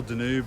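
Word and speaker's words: Danube: This is the river Dunar uh or Denube, depends on your pronunciation.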